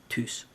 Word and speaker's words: THYS: I always call it TYS, because that's how you would pronounce that in Finnish.